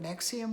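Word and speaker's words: NXIVM: N-E-X-I-V-M, it was spelled. Nexium. The V, like the Roman carvings, they used V for a U then. So it's spelled in a Roman way.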